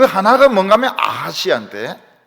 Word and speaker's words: 아하시아: 그 하나가 뭔가 하면 아하시아인데, 아카시아는 아닙니다. 아하시아.